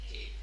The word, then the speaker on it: tape: Tape. Tape. Yes, if there was no E, it would be tap. But because there's an E at the end, it's tape. That E gives it an A sound.